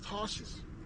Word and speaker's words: Tarshish: as to why Paul was called Saul of Tarshish, right?